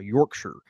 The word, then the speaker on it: Yorkshire: in the Shire however if one calls York Shire his or her home is pronounced Yorkshire and he says that